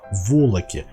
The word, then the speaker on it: волок: сужающаяся отверстие в инструменте волоки или фильер как его называют да есть волок именно на о увидите ударение смотрите весь процесс заключается